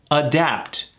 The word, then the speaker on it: adapt: like that don't we adapt ad adapt adapt two syllables emphasis on the a adapt make something suitable